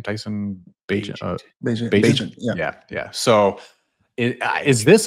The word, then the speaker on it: Bagent: Tyson Bagent.